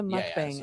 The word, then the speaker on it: mukbang: This is a mukbang episode.